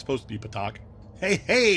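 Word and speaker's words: petaQ: I've never heard it pronounced Pakta before. It's supposed to be Patak.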